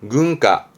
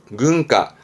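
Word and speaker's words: 軍靴: 세가 세가 군자 있던 거 그렇죠 이게 군함이 발음은 근가 근가 근데이 화자는 음독은요 정도고 대부분은 뭐 훈으로 보여집니다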